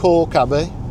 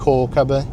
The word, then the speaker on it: Calke Abbey: So, today we're going to a place called Cababie. Um, it's actually spelled Calabi, but um I'm reliably informed that it's actually pronounced Cababie.